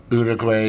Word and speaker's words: Uruguay: my list cuz I'd never been to uh Uruguay which is how you're supposed to pronounce it yeah or let's say Ecuador or